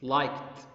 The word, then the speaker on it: liked: it past okay and it ends with k sound what should i do should i say it likened or like it yes liked we pronounced the as t sound help ends with p